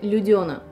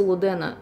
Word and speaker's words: Людена: А я вам скажу, что есть еще бесы Людена. Да, именно так произносится, не бесы Лудена, хотя, мне кажется, бесы Лудена звучит как-то попоэтичней, но «Бесы Лудена».